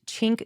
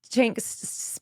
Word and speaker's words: Cenk: Well, we don't know for sure, because some people say that Cenk Uygur's name is supposed to be pronounced with a hard J, like Cenk. Cenk versus Cenk.